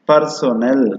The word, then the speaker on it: personnel: See the pronunciation, personnel.